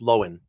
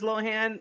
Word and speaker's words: Lohan: people by the way my name it's actually pronounced lowen right like if you know like I I unders like if she prefers Lohan that's one thing but if she right then